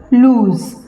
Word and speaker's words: lose: Z, z as in zip, buzzer, lose. अब यहाँ पे भी आप देखिए स्पेलिंग में एस है पर साउंड कौन सी है, ज की, लूज.